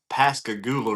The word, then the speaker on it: Pascagoula: So, like never under Um, Pascagoula. That's the Pascagoula River is how you pronounce that.